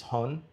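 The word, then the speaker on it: 本: So the kanji for um, book is hon. So like that's how you say it.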